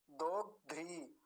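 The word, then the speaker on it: दोग्ध्री: ध भी आधा है दोग ध्री री आप बाद में देख रहे ना री आता है बोलने में दो ध्री पकड़ पा रहे होंगे अभी आप बात को दो ध्री ऐसा और ध का पर दीर्घ ईकार है तो थोड़ा सा लंबा खींचना अगला शब्द देखिए ये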